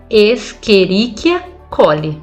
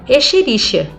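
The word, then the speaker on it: Escherichia coli: aí o monge fala esqueriquiacoli mas todos os meus colegas falam echerichia aí o monge fala você quer falar corretamente ou não caramba a gente se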